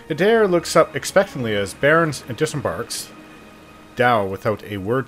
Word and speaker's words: Bearn: They pronounce it Bearn.